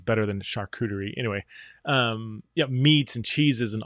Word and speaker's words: charcuterie: some people call it chakuteri the french would call it shakutri that's a terrible pronunciation but it's better than charcuterie anyway meats and cheeses